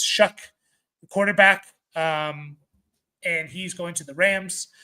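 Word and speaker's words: Shough: Uh Tyler Shuck, I believe is the pronunciation. It's spelled kind of weirdly, but it's Shuck, quarterback.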